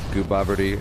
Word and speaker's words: Gooboberti: your gamer tag yep it's pronounced goobery and it's g o o b o b e r TI I now you know